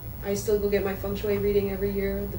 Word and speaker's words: feng shui: So explain, like, how do you say feng shui?